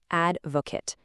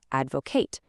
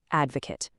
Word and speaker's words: advocate: Pay extremely close attention to the pronunciation here because it actually changes depending on how you use it. As a noun, which we are learning today, it's pronounced advocate.